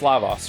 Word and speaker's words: Lavos: to like like um fix my Chrono Trigger pronunciations is it Lavos it is Lavos right and is it Marl or Marley for